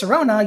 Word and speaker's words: Sirona: Because to pronounce Sirona, you must first emphasize the word Sir, and Ryan is a traditionally masculine name.